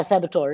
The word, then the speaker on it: saboteur: example of x i'm an x self saboteur saboteur you say that's how you pronounce it okay yeah saboteur right so i'm an ex self saboteur uh